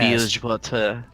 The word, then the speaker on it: Bilgewater: off of Bilgewater. Is that how you say it? Yes, Bellswater. Yeah. Bilgewater.